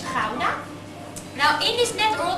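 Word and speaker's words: Gouda: as i told you the type of cheese we make is a kudai actually uh we pronounce it as hauna now in this net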